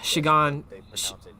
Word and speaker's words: Shigan: came from it no it's not it's s-h-i-g-a-n yeah she gone okay shigan shina okay goddamn that's a